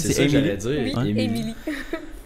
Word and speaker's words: Emily: Emily. Ça se prononce comme Emily, là, vraiment.